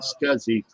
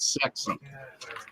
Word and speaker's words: SCSI: alternative pronunciation yeah uh in some uh areas uh the small computer systems interface was not called scuzzy it was called sex Ah that's right so